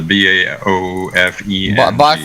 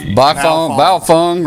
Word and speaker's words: Baofeng: How do you pronounce that, Alan? The BAOFENG. Baofeng radio.